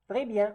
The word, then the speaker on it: très bien: Again, the S here is not pronounced simply because it's not followed by a vowel.